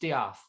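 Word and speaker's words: De'Ath: Did he put an apostrophe between the E and A? Yes, and pronounced Diath.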